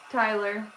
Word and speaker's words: Tyler: Tyler. Not Taylor, Tyler. Close, but so far. There's no A. The A is silent.